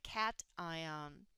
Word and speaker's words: cation: Cation is the proper way to say that vocabulary word.